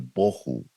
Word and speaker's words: bohu: el tohu y el bohu. Algunas personas le llaman el tajú y el bajú, pero realmente la pronunciación es una pronunciación hebrea que se refiere al bohu.